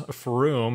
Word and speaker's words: Frome: are crazy like there there's from which is froome right there from lid lid